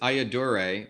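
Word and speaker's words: Ayyadurai: doctor seal welcome yeah why the way you pronounce my name is I adore a but you can just call me dr.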